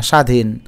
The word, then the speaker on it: স্বাধীন: এটাকে আমরা একটা বলি কোন শব্দটিতে ব ফলার উচ্চারণ হবে না স্বাধীন দেখো ব ফলার কোন উচ্চারণ নাই ঔষধ শব্দের সঠিক উচ্চারণ